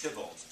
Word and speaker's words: Theobald: In the first versions, the hero, in quotation marks, the mock hero, is Louis Tybalt, spelled Theobald, but pronounced Tybalt.